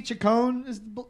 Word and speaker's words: Chacon: do we have a andy chacon the guy's name with the silent h so so what happened